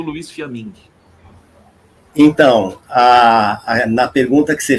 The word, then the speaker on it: Fiamin: Fiammingue, tá certo a pronúncia do teu sobrenome? Fiammingue? É Fiammingue, é isso mesmo.